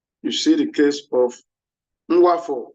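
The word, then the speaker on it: Nwafor: You see the case of Nwafo Uraku. Nwafo is spelled N-W-A-F-O-R.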